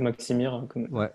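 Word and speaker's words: Maksimir: Faut que je le prononce, sinon je vais me faire taper sur les doigts par. Stade Maximir.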